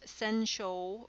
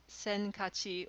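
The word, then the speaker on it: 先勝: give you your choices this one can be pronounced sensual or senkachi or sakigachi if the day is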